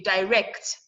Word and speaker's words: direct: If you know where to stress, okay, direct, that's a verb. Rex is the one that is stressed. It's 2 syllable words. Okay, directly now. You're adding li to it. The rec is still the one that is what is stressed.